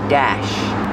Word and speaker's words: dash: is the dashboard pronunciation use the short a like black cat and Apple Dash this is the dashboard